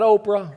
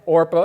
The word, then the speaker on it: Orpah: One married a woman named Orpah. Not Oprah, Orpah.